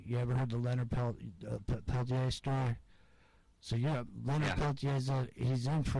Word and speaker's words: Peltier: Well, I call him Leonard Peltier, but I mean you're from up there, so I knew if I said it wrong, you were gonna correct me. So you got it, Peltier.